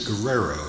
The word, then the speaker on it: Guerrero: Brenda Guerrero, and I was asking her, I had used the Hispanic definition or pronunciation of her name, and she says she's Italian, and so as far as she's concerned, it's Guerrero.